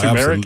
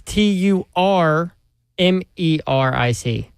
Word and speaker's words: turmeric: It's T U R M E R I C. Turmeric.